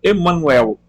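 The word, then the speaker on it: Jmmanuel: Jamanuel é pronunciado Emanuel.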